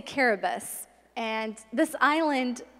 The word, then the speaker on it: Kiribati: I went to an island just south of Hawaii called Kiribati. The locals say Caribus.